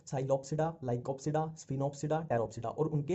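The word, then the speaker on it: Psilopsida: Pteridophyta में इसमें P silent ही चलता है, जहां भी पी आ गया वहां साइलेंट ही चलेगा। अब देखो ये है साइलोप्सिडा, साइलो और ये साइलो, ठीक है।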